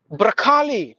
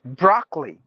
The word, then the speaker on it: broccoli: say should be btig brali no brali it's broccoli brockly the O is mute so broccoli cabage no cabage because